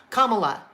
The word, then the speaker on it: Kamala: you guys know that easy way to know how to pronounce her name and I just pay attention to things like this because I have a very unusual first name commala like if you think of a comma in a sentence comma Kamala